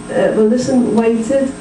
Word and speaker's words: waited: The words where I add the syllable and, waited, decided. The last syllable before the ending is a T or a D. So if the word ends in T or D, you add a syllable.